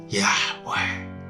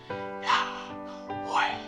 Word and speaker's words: Yahweh: It has no vowel, so you cannot pronounce it like you will just pronounce normal name, because it is not something that you can even pronounce with your lips and your teeth. You just need to pronounce it like a breath.